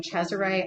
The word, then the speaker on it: Cesare: And this was developed by a guy named Caesar Beccaria. I've also heard people pronounce his name Cesare. I pronounce it Caesar. You can call him whatever you want to call him.